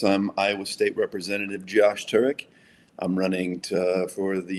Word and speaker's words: Turek: Did I pronounce your last name correctly? Turk. Turk.